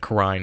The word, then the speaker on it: Kurain: And yes, I'm pronouncing it Kurain, because I'm pretty sure that's how it'd be pronounced in Japanese, I think. It's also how they pronounced it in the anime.